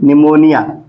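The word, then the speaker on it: pneumonia: आए पी एन ई यू इसको क्या पढ़ेंगे निमोनिया न्य मो निया निमोनिया निमोनिया क्या होती है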